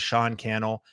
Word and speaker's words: Sean Cannell: If we happen to be just meeting, my name is Sean Cannell, rhymes with YouTube channel.